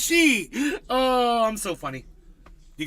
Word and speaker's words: Xi: Chinese president's name is she x i it's pronounced she oh I'm so funny you guys like my